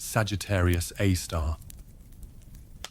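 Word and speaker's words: Sagittarius A*: super massive black hole known as Sagittarius A asterisk pronounced Sagittarius A star.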